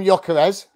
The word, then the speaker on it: Gyökeres: Oh yeah, so we call him Gyökeres. Okay, what did I say? Gyökeres. Yeah, but if you play FIFA, they say Gyökeres. Yeah. Just stick with Vic from now on, mate. We call him Gyökeres, the big Swede.